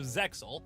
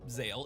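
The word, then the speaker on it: Zexal: This is important because the next show in the series, Yu-Gi-Oh Zeel, or Zale if you prefer the original pronunciation, is where things start to get fuzzy.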